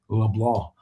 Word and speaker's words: Leblanc: Looks like Leblanc by the way, but he pronounces it with this French cinjun Leblah.